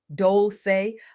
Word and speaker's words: Dolce: I'm your host, Dolce, pronounced dol-say, like sweet softness whispered in French, and I'm your guide